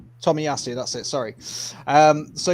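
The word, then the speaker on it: Tomiyasu: give it to you again is it Tak Tommy yasu Tommy yasu that's it sorry um so yeah there's there's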